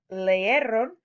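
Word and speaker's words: leyeron: We want to keep the pronunciation leeron, so we just replace the I with a Y. We still are pronouncing it the same, leeron, leeron, but we've given it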